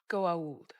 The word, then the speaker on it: Goa'uld: It's pronounced... Goa'uld.